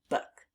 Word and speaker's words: book: The B is doing an expected thing and the K is doing an expected thing, but those two O's together are making the sounds uh uh and we haven't learned about that yet.